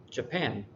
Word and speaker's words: Japan: we emphasize it more the second one is Brazil Japan and so it's this is done because the second syllable is is focused on more uh the third one